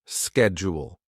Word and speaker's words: schedule: How do you pronounce the word schedule in British and American English? chat. GPT will write it like this. British slashshedjul American slash schedule. This helps you see the sound.